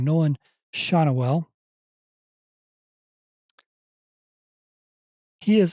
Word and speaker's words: Schanuel: I have to look up Nolan's last name, the pronunciation. Every time I see it, I always want to say it wrong. Nolan Schanuel.